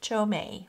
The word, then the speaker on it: Qiaomei: lady told me it's Cho as in chocolate and may as in May the month of May so Cho May watercolors Chinese watercolors Paul